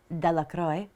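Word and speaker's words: Delacroix: Bobby and Harry Jones and Dicki Deacroy, the villagers pronounced this name Deacroy, eventually made a great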